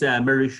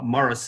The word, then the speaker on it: Maurice: So my actual name is Maurice, which is spelled. But that would be too difficult for English or Anglo-Saxon. So Morris is what most people call me.